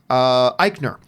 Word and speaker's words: Eichner: who I love, and Billy, how do you pronounce his name? Eichner.